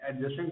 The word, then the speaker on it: adjacent: आपका एडजस्टेंट के नियम, है ना। एडजस्टेंट के नियम लेंगे। पहला क्या है नियम मेरा? एडजस्टेंट। ADJACENT होता है ना स्पेलिंग, ठीक है। एडजेसेंट, एडजेसेंट के तौर पे यानी निकट,